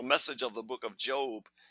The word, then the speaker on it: Job: of the book of Job and remember it's not job you can tell of